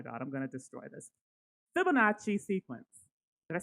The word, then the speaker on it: Fibonacci: the oh my god, I'm gonna destroy this Fibonacci sequence. Did I say it right? You did. It's the Fibonacci sequence.